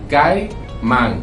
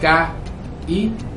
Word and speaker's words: caimán: Por ejemplo, la palabra caimán es caimán. Exactamente. No es ca-i-man. No hay tres sílabas, hay dos sílabas.